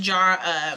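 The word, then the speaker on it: Jera: Jar, it's pronounced jar, meaning year in harvest.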